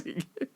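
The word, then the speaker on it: Yngwie: It's Ingve. Ingve. Don't I like when people see his name, they don't know how to say it. They're like Ying Yong Wing Wei.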